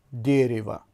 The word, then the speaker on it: дерево: درخت را افاده میکند و زیرش نوشته شده дерево و زده در هجای اول افتاده است که بلندتر تلفظ میشد، یعنی дерево، نه дерево، дерево.